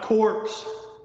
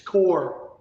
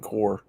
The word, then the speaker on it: Corps: military the Marine corpse it's not corse it's core yeah I'm Maring core the S is silent